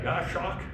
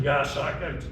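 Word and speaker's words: goshawk: pronunciation guide here because people see that and they go, "Is that a Gosh hawk?" Well, it's actually Goss hawk that came from goose hawk actually originally and they've reclassified the American Goss hawk with a whole different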